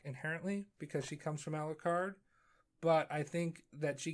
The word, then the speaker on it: Alucard: sarah and i think you pronounced a louis card or something like you said alucard really weird too aloo card or whatever um i just